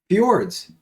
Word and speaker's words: fjord: top of the mountain fjords so what is a fjord fjords are u-shaped valleys that have been flooded so yes i don't know there's a j in there j is silent um these guys for